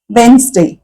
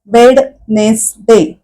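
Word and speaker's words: Wednesday: डी हा जोडी आहे मधला तिथे वेड वेडनेसडे असं नाही म्हणत आपण तो ड चा उच्चार करतच नाही म्हणजेडी या अक्षराचा उच्चार नाही करत डायरेक्टली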